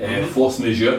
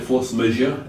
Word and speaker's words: Force Majeure: So you've also recorded the first new album with Kenny, Force Majeure. That's how you pronounce it, Force Majeure. It's French, probably. We'll go with that. Force Majeure.